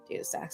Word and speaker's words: DataStax: Data stacks. Is that how you pronounce this?